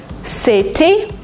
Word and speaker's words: city: In American English, if you have a letter T in the middle of a word, sometimes you pronounce it as D. Letter, letter. Letter? Because it's faster, because it's smoother. City, you don't say it. City, city. City? It's like DNR, city.